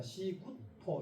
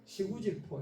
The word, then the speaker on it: 시포: 시포 이거 시구 질인데 이게 이두식 연으로 할 때 이거는 시 발음을내는게 맞습니다 시포 이렇게 맞습니다 구포 이렇게도 하는 이건 창원시 마산 보